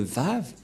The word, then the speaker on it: vav: lettre V et donc la prononciation du lettre V en hébreu selon la prononciation de Abraham et Moché on le prononce V mais pas W ou ou comme avec